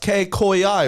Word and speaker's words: Kcoyi: I just want to point out today it's pronounced K koi i right oh yeah take oi oi everybody be